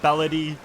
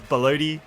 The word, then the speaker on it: Ballad: That reminds me, I'm also sorry, Ballad, for pronouncing your name as Blo.